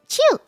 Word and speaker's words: Qiu: Oh, and not phonetically xing qiu. Yeah, I don't get it. Qiu.